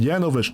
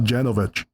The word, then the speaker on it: Janovich: It's pronounced Janovich, not Janovich.